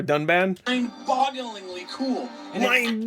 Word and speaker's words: Dunban: about mispronouncing but like he said a completely different name for a done band did he just say Duncan I think for dunban I'm bogglingly cool and